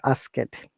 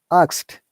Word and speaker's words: asked: I have also had many of our learners pronounce it asked. Do not do like this, guys. It is asked. One go, one syllable. It is not double syllable.